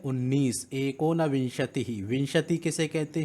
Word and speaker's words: विंशति: फिर विंशति, इसको कई छात्र विसंति कहते हैं, तो ये गलत है इसका उच्चारण।